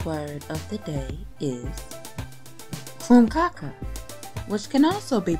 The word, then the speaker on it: krumkake: Today's word of the day is krumkake, which can also be pronounced krumkake.